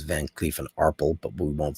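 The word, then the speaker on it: Van Cleef & Arpels: That's actually the current Kirk pronunciation is Van Clee and Arpel, but we won't say that.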